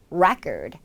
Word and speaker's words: record: 뒤로 가게 돼요 이름 전에 강사가 있는 경우 Record 하지만 기록하다라는 뜻으로 동사가 될 경우엔 굉장히 스펠링이 같은 단어라고는 상상이 안 될 정도로 소리가